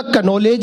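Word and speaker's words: knowledge: दोनों को इंग्लिश का कनोलेज ही नहीं है, थोड़ी सी तालियां दे दीजिए, आपको तो कनौलेज है ना। अब प्रिंसिपल साहब ये हरियाणा के, इन्हें कौन समझाए इसमें के साइलेंट होता है।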